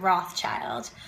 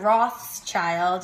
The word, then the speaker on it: Rothschild: I never had to talk about the silent S and how it wasn't Rothschild, it's Rothschild.